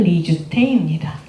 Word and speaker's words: 이수정: 그 조선인의 이름은 리주테입니다. 일본식 발음이거든요. 이수정 씨.